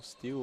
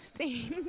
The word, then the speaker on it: Steen: We have Daniel Steele on the court. Captain Steele? of the team. Did I say that last name wrong? Yeah, it's Steen.